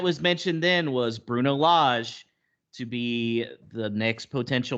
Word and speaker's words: Lage: saying it right cuz he said it was large without the r is that correct so it's LJ oh you said it